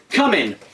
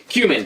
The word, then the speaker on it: cumin: my other favorite spices come in as I used to call it in high school and I guess still now cumin for those of you who care about proper enunciation but here it is